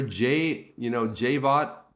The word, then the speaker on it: Jay Vaught: Jay Vaught, pronounced Jay Vaught, and he was on Periscope.